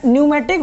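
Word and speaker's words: pneumatic: देता हूँ आपको क्या न्यूमेटिक होता क्या है, ताकि आपको इस टर्म न्यूमेटिक का मतलब समझ आ जाए कि न्यूमेटिक किसे कहते हैं। ठीक है, तो यहाँ पी साइलेंट रहता है इसमें, न्यूमेटिक।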